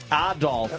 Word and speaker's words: Adolf: Adolf as the proper pronunciation.